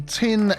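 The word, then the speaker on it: Tijn: I pronounce this correctly, Tin Cameling, Tin spelt T-I-J-N, was to move the opera house from here down to this section at the end.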